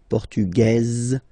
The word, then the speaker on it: Portugaise: Masculine, Portugais, you don't pronounce the S. Feminine form, Portugaise, you pronounce this Z sound, okay?